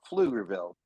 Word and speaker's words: Pflugerville: in Pflugerville um and Pflugerville is spelled with a p e f l oogerville but but silent P but Pflugerville and um man he